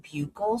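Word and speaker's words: buccal: guys this before but I learned to pronounce it bugle swabs in nursing school. And EDB's husband is an oral surgeon and he said it can be either. It can be said either way, buckle or bugle.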